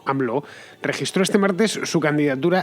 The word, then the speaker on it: AMLO: conocido por sus iniciales a ml o pronunciado aproximadamente algo así como anv lo registró este martes su